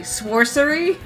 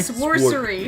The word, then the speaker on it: Sworcery: It's called Sword, and I'm pronouncing this correctly. Sworcery. It's like Sworcery? Sworcery.